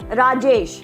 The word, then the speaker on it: Rajesh: And similarly, if your name is say Rajesh, so it is again 2 syllables.